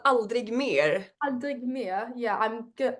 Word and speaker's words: Aldrig mer: And I cannot pronounce your song name, so can you please pronounce it for me before I say it wrong? It's called Aldrig Mer.